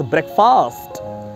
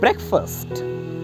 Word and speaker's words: breakfast: People often pronounce this word as breakfast, which is wrong. The correct pronunciation of this word is breakfast.